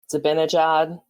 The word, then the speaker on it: Zibanejad: I always say his name wrong. Zibanejad.